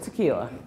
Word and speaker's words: Takeelia: So hence the spelling of my name that everyone would like to say, Takeelia. So if the I is silent, it's just Takeelia.